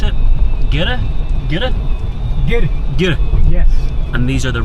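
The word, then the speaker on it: гэр: yurts, or as they're known, how do you pronounce it? Gire? Gire? Gire. Gire.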